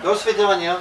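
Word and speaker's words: до свидания: Do svidaniya.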